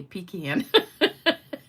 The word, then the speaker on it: pecan: So Sweet Sarah says, "Love how you say pecan." I say it like you pee in a can.